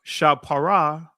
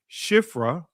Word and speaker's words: Shiphrah: the name of one was uh shaphara right? That's our ancient pronunciation in the Israeli shiphrah and the name of the other puah and the Israeli puah right?